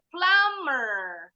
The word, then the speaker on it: plumber: de artinya hutang lupa diilang nah yang terakhir plummer plummer plummer kira-kira ada yang tahu enggak ya